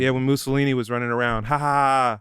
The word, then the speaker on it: Mussolini: thank God we weren't bro I will sing Mussolini it's actually pronounced Mussolini yeah to me was the goofiest fascist yeah